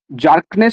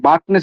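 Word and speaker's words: Bjerknes: এরপরে ডাইরেক্ট তোমার হচ্ছে গিয়ে আমরা যে তত্ত্বটা পড়ি 1918 সালে 1918 সালে জার্কনেস বা বার্কনেস আমরা বার্কনেস বলি যের উচ্চারণ হয় না।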